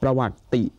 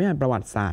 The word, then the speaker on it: ประวัติศาสตร์: อย่า ลืม นะ ครับ อ่าน ออก เสียง ต่อ เนื่อง เสมอ ประวัติศาสตร์ เรา ไม่ ประวัติศาสตร์ นะ ครับ ต้อง มี ติ ด้วย การ วิชา ที่ เกี่ยว